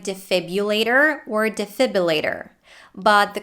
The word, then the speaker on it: defibrillator: for native speakers sometimes the next word is defibrillator and it's the same story with this one the r after the b might be dropped and substituted with the